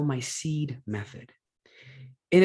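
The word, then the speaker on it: PSEAD: the thing it's actually what i call my seed method and it's spelled p-s-e-a-d so the truth of the matter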